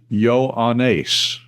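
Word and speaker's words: Ἰωάννης: Yoda Omega alpha new eta sigma pronounced yo anace.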